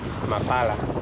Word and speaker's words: Amapala: There's a town there called Amapala, Amapala. but the locals pronounce it Mapala.